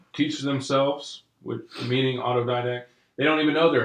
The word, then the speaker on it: autodidact: I have trouble saying that word, but I know I was mispronouncing it. Right, we were trying to figure out how to pronounce autodidact. Anyway, autodidact. So it's one of those